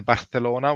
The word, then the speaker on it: Barcelona: The lisp, as in the Barcelona with an S sound rather than a TH sound.